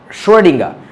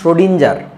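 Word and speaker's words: Schrödinger: করে নাই যেমন ধর একজন বিজ্ঞানীর নাম আছে সডিঙ্গা আমরা বাঙালিরা বাংলাদেশের বইগুলাতে লেখে সডিঞ্জার এবং ওই নামেই তুমি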